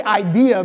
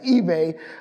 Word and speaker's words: eBay: say your name, Stephen eBay. Stephen eBay. I always want to say IBEA because it's IBEH, and I want to say IBEA so bad, but it's eBay.